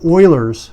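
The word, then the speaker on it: Euler: is do we remember Oilers formula okay Oilers formula or ul's formula however however you want to pronounce it now the way I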